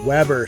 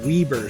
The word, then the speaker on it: Weber: A children's play area sponsored by Weber State University, normal people call it Weber State, whereas locals pronounce it Weber State, is located on the lower level near the center court.